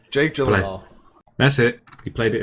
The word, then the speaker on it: Gyllenhaal: Jake Gyllenhaal.